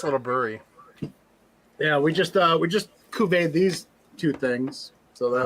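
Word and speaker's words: cuvée: Yeah, we just cuvee these two things.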